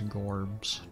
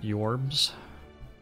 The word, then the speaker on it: jorbs: boot double calculated gamble okay i ever considered pronouncing my name as gorbs nope never have i ever considered that tools